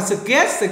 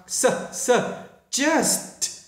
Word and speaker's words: suggest: Các bạn hay đọc là suggest gì đó thì không đúng, mà các bạn phải đọc là suggest, phải bung cho được âm S và âm T ở phía sau này.